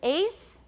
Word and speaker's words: eighth: voiceless alveolar stop but in eighth or eighth it could be interdental right i don't make a t by the way this is not a good example for me watch my mouth one two three four five six seven eight eight it's a normal t for eighth i have no t at all and i've asked many native speakers many of them don't say eighth they say eighth t wan cha mayo